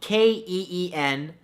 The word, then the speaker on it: quinoa: Number 2, quinoa, spelled Keenwah. No, that's not how it's spelled at all, but it should, right?